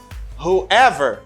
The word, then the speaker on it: whoever: say who plus ever you say whoever because this w letter doesn't pronounce let dubli vasana